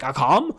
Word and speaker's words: Akam: I always want to say his name's Akeem, but it's like, Akam?